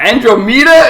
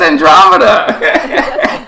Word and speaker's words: Andromeda: in the androma sector Andromeda androma it's Andromeda Star Trek [ __